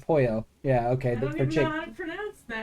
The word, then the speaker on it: pollo: It said pollo. Yeah, okay. I don't even know how to pronounce that. Pollo, yeah, it's a Spanish word for chicken. Not polo. It was funny.